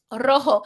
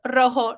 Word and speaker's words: rojo: Rojo. The J in Spanish is called Jota. It sounds like our English H. And so that's why this is pronounced rojo, not rojo, right?